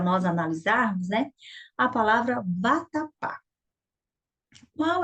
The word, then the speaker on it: vatapá: Aí você vai falar, vatapá! Ó, qual foi a sílaba que deu mais sonoridade? Foi o pá, não foi? Então, esta é a sílaba mais forte da palavra.